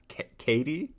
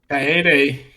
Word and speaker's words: Kaede: Katie? Kaede? Kaede.